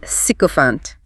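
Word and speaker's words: sycophant: Pronounced sycopant. Clean and sharp on that first syllable.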